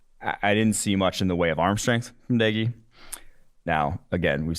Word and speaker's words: Doege: The fact that it's pronounced Doege. I thought it was Doge for a long time, but then I was